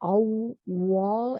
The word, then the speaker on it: Awal: And the it's spelled A-W-W-A-L, so it's got the two W's in the middle, Awal, and that oo in